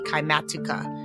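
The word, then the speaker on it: Kymatica: It is spelled K Y M A T I C A. Kimatuka.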